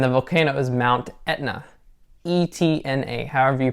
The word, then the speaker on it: Etna: E-T-N-A, however you pronounce it, or however the Italians pronounce it.